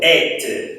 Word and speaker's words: êtes: Lembra que eu expliquei quando o E tinha um acento circunflexo, ele se abria, né? Igual quando a gente fala fête. Então, se você fala festa, de fête, você vai falar, tenho a certeza, et.